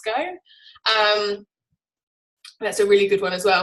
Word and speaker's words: VSCO: VSCO, I don't know how to pronounce it, it's Visco.